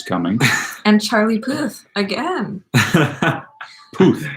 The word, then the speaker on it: Puth: Puth rhymes with Maybe with he'll tooth.